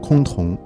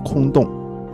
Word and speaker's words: 崆峒: 崆峒二字的标准读法为崆峒，根据理解的不同亦可以念作崆峒。